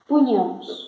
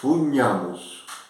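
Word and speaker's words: pugnamus: Punhamos. O GN è pronunciato come NH. Gne. Pugnamos.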